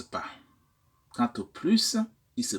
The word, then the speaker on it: plus: maintenant quant au plus le S de plus est tantôt prononcé tantôt il reste muet et parfois on ne prononce comme Z quand on fait la liaison avec ce s la fin de plus différents exemples pour illustrer